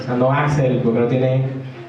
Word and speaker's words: Axl: Entonces uno le decía Axel, no, el profesor no es Axel, es Axel, o sea, Ax y la L, Axel, o sea, no Axel, porque no tiene.